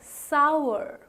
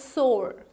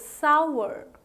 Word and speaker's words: sour: much how do you pronounce it it is pronounced as sour sour right it's not called as sword that's not right that's not the correct pronunciation it has to be called as sour sour is the correct pronunciation right so a